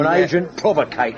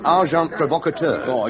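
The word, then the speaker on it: agent provocateur: And agent provocator. S. Amazing. Packar. The pronunciation, however, is arjant provocator.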